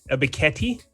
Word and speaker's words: Ebiketie: And I'm going to select the guy we saw over at the Senior Bowl, Arnold Ebiketie. Did I say it right? I butchered it.